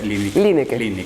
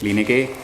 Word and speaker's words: Lieneke: Así se pronuncia, Linek. Linek.